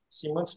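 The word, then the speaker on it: Simoens: s'appelle y Simons alors ça s'écrit ça se prononce Simons mais ça c'estécrit simoin c'est par particularité wallon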